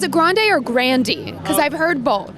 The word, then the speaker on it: Grande: it's a grande or grandi because I've heard both I changed our pronunciation of our name to Grande when I was joining backers equity so it was grandi when I was being raised my grandfather was Frank